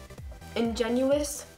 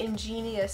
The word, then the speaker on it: ingenuous: chapped and nasty and this one's called um ingenuous I think I pronounced it right this time and I used this before in my video too but I think I said ingenious so yeah I'm going